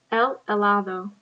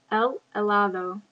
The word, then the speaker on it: helado: El helado. Notice the H is silent. El helado.